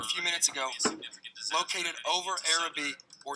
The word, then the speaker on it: Arabi: It's spelled A-R-A-B-I. A couple people pronounce it differently.